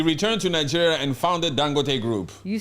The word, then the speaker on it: Dangote: say his name again dangote not Dan no Dan must say it with a Nigerian accent dangote mhm yes dangote the